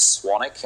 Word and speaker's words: Swanwick: on social media swanic and that's spelled s w n w i c k my name is actually spelled Swan Wick but it's pronounced swanic um if you're interested